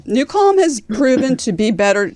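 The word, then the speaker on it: Nucalm: love Seinfeld but I it's not like the new Cal that we use to fall asleep to so I will say new Cal has proven to be better no disrespect to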